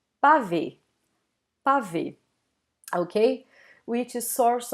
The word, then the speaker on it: pavê: Then people normally eat this first A, they say pra ver, pra ver. And as you can see, we don't really pronounce this R. And some people even eat this R. So it's exactly what we see in here, the name of the dessert, pavê, pavê.